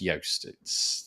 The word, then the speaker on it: Joost: His name, despite the fact that it's spelt Joost, is pronounced Yoast.